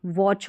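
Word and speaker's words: watch: फिर यह स्टिच और यह स्विच यह वॉच हो गया। डब्ल्यू ए का साउंड व करके आता है। तो इन सारे में जो टी सी एच का कॉम्बिनेशन है इसमें टी साइलेंट रहता है।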